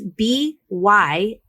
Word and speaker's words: Byhalia: It's Byalia or Byalia. It's Byhalia.